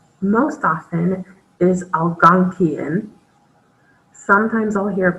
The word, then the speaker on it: Algonquian: The way I've heard it pronounced most often is Algonquian. Sometimes I'll hear it pronounced as Algonquin, and they just miss a syllable there.